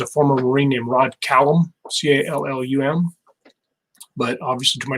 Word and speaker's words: Callum: One that's a little bit different on pronunciation is a former Marine named Rod Callum, C-A-L-L-U-M. But obviously, to my narrator, pronounce it however you want.